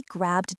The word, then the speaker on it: grabbed: I met up with some friends and we grabbed dinner. Notice the past tense of grab is grabbed. It is just a soft D sound at the end.